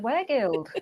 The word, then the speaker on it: Weregild: And her latest book is Murder in Anglo-Saxon England, Justice, Weregild, Revenge. So let's talk murder, Annie. And pronunciation. Is it Weregild or Vergild? Oh, I've always said Weregild, but you've got me thinking now.